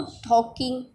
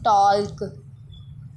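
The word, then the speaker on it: talking: Know टॉकिंग during class work. अच्छा, कुछ लोग पढ़ते हैं टॉल्क, ये प्रोनाउंसिएशन रॉन्ग है, ये है टॉकिंग। एल इज़ a silent word, टॉकिंग।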